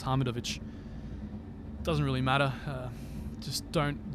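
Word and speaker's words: Hamidović: the west do it's hamidovic but if you want to pronounce it correctly like we do in the balkans it's hamid of which doesn't really matter just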